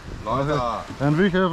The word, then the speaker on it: Loisach: So, how do you pronounce this river? Loisach. Loisach. Loisach.